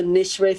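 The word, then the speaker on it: Nicewicz: go and pick your own it's called the nishway family farm it's spelled n-i-c-e-w-i-c-z and um their father's sides come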